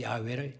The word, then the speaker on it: 야훼: 여호와를 야훼라고도 말을 해요. 히브리어상 발음상의 차이예요. 야훼 하나님. 그 야훼를 제호바, 여호와라고 하는 말로 우리가 번역을 했죠.